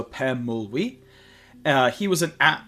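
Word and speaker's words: Pemulwuy: Uh next in English, it's Pemuli. Um and also in the uh native indigenous uh Australian language is also Pemuli.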